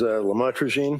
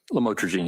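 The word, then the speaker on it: lamotrigine: about the u the lamel, otherwise known as lamatroine. Did I pronounce that right? Lamotraine.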